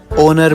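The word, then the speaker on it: honour: Ma'am जैसे H letter, ओनर में, आर में, ओनेस्ट में। नहीं बेटा, इनको हम इग्नोर नहीं साइलेंट कंसीडर करते हैं।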